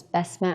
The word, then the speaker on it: Basma: you please tell us your name and also spell it out for us my name is bess matt and spell like b-a-s-m-a last name